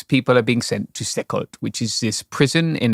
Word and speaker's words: CECOT: In this case, people are being sent to Secot, which is this prison in El Salvador. It's sometimes Can you spell that? Yeah, CECOT. Centro... Secot. Yeah, Secot. Yes. Secot.